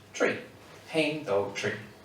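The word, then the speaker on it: trí: But that's because in Irish, to say the number 3 is T-R-I fada, which is pronounced tree.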